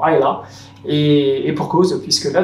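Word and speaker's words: Islay: l'île d'aile en fait qui se prononce d’ailleurs politiquement Aya et pour cause puisque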